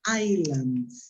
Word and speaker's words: island: When we talked about, pronunciation, this is an island, no Iceland. Island. Yeah? The country in Europe, in North Europe, that is an Iceland. Right? Be careful because it's different. Island and Iceland.